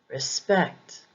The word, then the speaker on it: respect: follow this pattern either for example respect can be used as a noun or a verb but the emphasis is usually on the second syllable respect respect witness can also